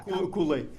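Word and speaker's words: Kuhle: I hope I don't butcher his last name, because I'm not sure how it's pronounced. Is it Kule or Kule? Yeah. Kule.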